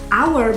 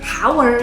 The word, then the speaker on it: hour: misalnya mengatakan satu jam kita tidak mengatakan our tapi our karena pengucapannya hai beli itu hour Bukan hower gitu Nah sebagai contoh